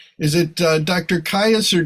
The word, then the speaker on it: Caius: is it uh Dr Caius or Dr keys do you think it's Keys College Cambridge and that's that's spelled Caius but it's pronounced keys so you know you